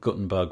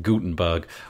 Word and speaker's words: Gutenberg: I think the the audience for Guttenberg will have I said it wrong Gutenberg will grow and so